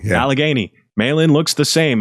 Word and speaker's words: Allegheny: Alugghini. Did I say it right? Alagany. Yeah, Alagany.